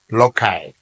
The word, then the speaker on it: loci: sometimes it is pronounced Loy the singular is Locus